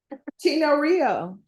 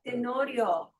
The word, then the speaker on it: Tenorio: Tino Rio. It's TEN 10 O Rio. Tino Rio. Was I not saying that? Tenorio.